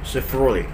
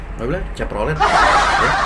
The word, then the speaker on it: Chevrolet: ke ah Chevrolet mobil Chevrolet Chevrolet ternyata penyebutannya pelafalannya Chevrolet Chevrolet Chevrolet Chevrolet Chevrolet eh taunya pasti nggak pakai cevrolet bukan kalau mikrolet M10